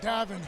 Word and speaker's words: Davin: Hey, I'm telling you, Gavin McIver, you are fired up, man. Hey, Glenny. You got my name wrong. It's Davin.